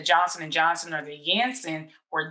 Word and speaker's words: Janssen: see with the johnson and johnson or the yanson or janssen it's it's correctly pronouncing ants in them over um across the